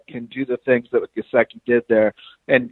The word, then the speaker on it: Gesicki: But the Mike Gesicki out of Penn State I think I'm pronouncing his name Gesicki, correct. no, it's Mike Gesicki, yeah.